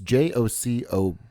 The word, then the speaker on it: Jacobellis: It's Jacobellis.